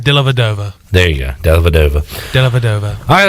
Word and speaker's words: Dellavedova: You keep putting an N in there. There's no N. Dellavedova.